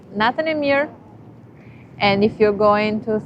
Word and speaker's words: natën e mirë: It's natën e mirë.